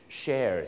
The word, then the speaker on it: shares: นั่น เอง นะ ครับ ถ้า เป็น เก้าอี้ จะ ออก เสียง CH เสียง เชอ chairs นะ ครับ chairs แต่ ถ้า SH มัน จะ เป็น เสียง shares นั่น เอง ครับ ดัง